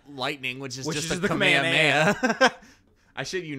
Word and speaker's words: Kamehameha: It's the Kamehameha. If you say Kamehameha, that's the Hawaiian King. Spelled the exact same way, but the pronunciation is different.